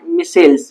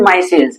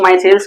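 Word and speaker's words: micelles: इस स्ट्रक्चर का नाम है, वैसे इसको हम कहते हैं मिसेल्स, माइसेल्स, मिसेल्स, अलग अलग मतलब प्रोनाउंसिएशन होता है। दिस इज माइसेल्स, इसको माइसेल्स कहते हैं।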